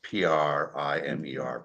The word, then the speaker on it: primer: want to say that in America we pronounce p r i m e r primer when we're referencing a book and primer is paint I only say that